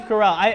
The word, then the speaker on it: Carell: TV show out of this starring starring Steve Carroll yes yes it is going to be a maze of corral Steve Carell I've said his name wrong four times already